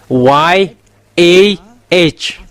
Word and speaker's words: Yah: It's yod and hey it's called yah. That's why when we are uh come back to the original how to read yod and hey it's yah.